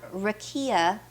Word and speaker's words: rakia: Then we have rakia, which is spelled R-A-K-I-A.